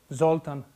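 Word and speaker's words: Zoltán: It's the Hungarian language. They always accent the first syllable. Bella, Bartok, Zoltan, Kodali.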